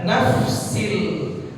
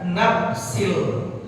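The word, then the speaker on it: نفس: Sebagai contoh kasus ini, huruf fa, ya kan, fa fi fu baf, jangan diganti pakai huruf p, harus dibaca nafsil, jangan dibaca nafsil.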